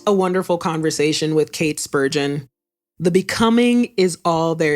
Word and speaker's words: Spurgeon: Spurgeon rhymes with virgin and sturgeon, for coming on the Working Writer podcast.